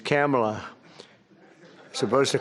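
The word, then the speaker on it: Kamla: Cam as opposed to Kam.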